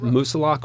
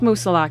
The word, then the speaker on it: Moosilauke: get into it so is it musa lock or musa what are you going with i'm going with musa and i i just